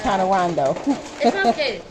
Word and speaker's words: Coronado: the california scent prawns the coronado cherry that's if i'm pronouncing it right that's not colorado it's no l it's connor rondo um the bottle scrubbers